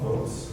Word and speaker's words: Voatz: Okay, so Votes, anybody wants to look them up, it's VOATZ, it's like Boaz. But you know, Votes.